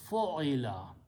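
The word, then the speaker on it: فُعِلَ: fa, but this time I change first letter to a dhamma and it is pronounced as a fo. Second letter I change to a kasra and keep the third one as it is. So the sound is now fo'ila.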